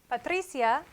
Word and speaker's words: Patricia: at another example patricia patricia has a strong vowel la a so weak strong means one syllable patricia patricia this is